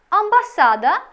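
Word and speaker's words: ambasada: цієї літери починається слово амбасада що означає посольство та Амбасадор що означає посол нагадаю що наголос у польській мові як правило падає на передостанній склад а амбасада Амбасадор а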